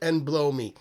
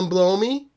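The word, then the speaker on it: Anblowme: It's pronounced Enblowme. Neil Enblowme.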